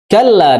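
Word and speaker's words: كلا: Kalla di situ ada tasdid. Ya, jadi jangan sampai kala, tapi kalla, ya. Kalla, ya. Jadi jangan sampai membacanya kala, ya. Jangan juga dibaca kala, ya, tapi kalla, ya. Dan jangan digunakan juga yang mentang-mentang tasdid itu digunakan.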